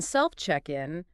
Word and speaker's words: self-check-in: So in self-check-in, the stress is kind of on self and the first part of in, self-check-in.